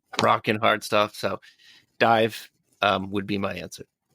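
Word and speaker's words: DIIV: I um I've been really digging into the band Dive recently. Like I think that's how you say it. D III, it's not Dave.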